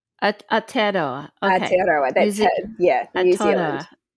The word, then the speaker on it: Aotearoa: How do you pronounce Aotearoa. Aotearoa.